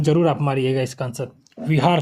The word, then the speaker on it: बिहार: बुध यहां रहते थे इसको विहार व व व से पूर कहा जाता था विहार अंग्रेज इसका सही विचारण नहीं उच्चारण नहीं कर पाते थे वो बिहार बोल दिए इसका क्या बोल दिए बिहार तो लेकिन तुगलक वंश